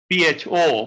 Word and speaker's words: pho: If you go to a Vietnamese restaurant and order a soup called pho, P-H-O, pronounced pho, it has no oil.